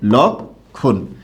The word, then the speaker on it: লক্ষণ: এটার উচ্চারণটা হবে লক, এটার উচ্চারণটা হবে খন, লক্ষণ।